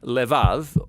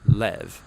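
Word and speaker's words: לב: in this prayer heart which in Hebrew is sometimes pronounced lev or more often in a shorter form lev now different cultures throughout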